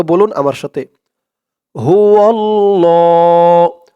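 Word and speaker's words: هو الله: তো বলুন আমার সাথে হুয় আল্লাহ ল বলে এক আলিফ টান দিতে হবে তাই এখানে এই যে একটি দাগ দিয়েছে হুয় আল্লাহ এক আলিফ টান যত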